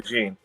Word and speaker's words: DeJean: I wrote in the chat, I said his first name is Cooper, his last name is DeJean. And then I phonetically spelt it so he could say it. And he goes, Dijon Cooper.